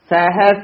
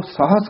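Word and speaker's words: ਸਹਸ: एक ना चले नाल, ये भी उच्चारण सहस ही करना है। अजकल जेडे नवीन विद्वान हन ओ सहस करान लग पए हन, पर संप्रदा दे विच ये उच्चारण सहस ही कराया जांदा है, इस करके सहस ही बोलना है।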